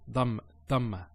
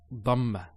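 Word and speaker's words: ضمة: Some people actually they don't say it with a dad. They say it with a dal. So they say dhamma. It's not dhamma. It's dhamma.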